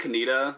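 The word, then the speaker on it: Conetoe: So, what are the most mispronounced towns that you think around North Carolina? I think Canita is a big one.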